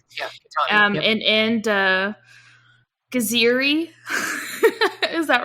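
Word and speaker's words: Geziri: And Gaziri.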